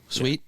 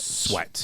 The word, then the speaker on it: Sweat: picked up Sweet. How do you say his name? Sweat. Yeah, Sweat. it's weird.